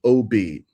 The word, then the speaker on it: Ob: Within ancient necromancy where it it's called the Ob, O B, O B. And it's actually pronounced Ob in Hebrew, but it's a Canaanite loanword.